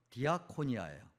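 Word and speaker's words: διακονία: 여러분, 이 직분이라고 하는 단어의 그 헬라어 발음은 디아코니아예요.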